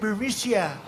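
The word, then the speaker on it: Burisma: the burmesa executives so this uh buremicia bermucia they say pronounce it berisia a real beautiful company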